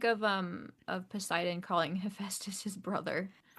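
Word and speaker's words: Hephaestus: did y'all think of um of Poseidon calling Heestus his brother? I got distracted. I maybe I would have had a thought about that, but I got distracted by Toby Stevens's pronunciation of Histus is what he said.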